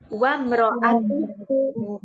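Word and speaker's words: وَامْرَأَتُهُ: Wa mro'atuhu wa imro'ah, tulisannya wa imro'ah, tapi nanti bacanya wa mro'atuhu. Karena hamzah wasal.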